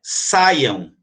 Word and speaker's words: saiam: Aqui é saíam. Ó, saíam. O I aqui, ó, ele não separou do A. Lembra que eu disse que quando o I separa do A, ele tem um acentozinho para mostrar que ele é forte, né? Ele se formou uma sílaba. Então, aqui, ó, saíam. Mas aqui é saiam. Saiam. Ó, saíam, 3, mas saiam, 2.